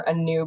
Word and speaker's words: Anew: I am the director of restoration for Anew Blue. Anew is a play on words, right? We're mostly focused on restoration. So Anew, A-N-U, is pronounced like A-New.